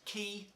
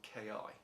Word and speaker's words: Ki: all these things said it was actually pronounced key and not k.i so who am i to argue with those fellas so i'm going to call this the key 84.